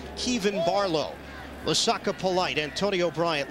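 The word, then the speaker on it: Kevan: out of the way early they call him Kevin Henry around here he told us it's actually pronounced Kievan Barlow Lusaka polite Antonio Bryant Latif grim and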